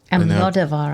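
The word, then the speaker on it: Almodóvar: Almodovar, I think. Thank you. I put the wrong emphasis on the wrong syllables again, as I often do when I'm not ready.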